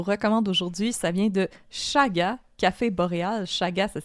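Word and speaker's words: Chaga: café qu'on vous recommande aujourd'hui ça vient de Shaga café Boréal Shaga ça s'écrit C H a g A mais comme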